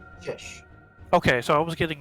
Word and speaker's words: Chish: run uh the verify how is your name pronounced fish okay so I was getting it right cuz